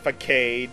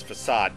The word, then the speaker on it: facade: it's gonna be painful and yes it is pronounced that way not for kade not or as a kid yeah as a kid i used to call it for kate or something and then it was pronounced as